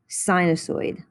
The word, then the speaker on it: sinusoid: of the following and these are pronounced like the word sign sinusoid sinusoid so we're going to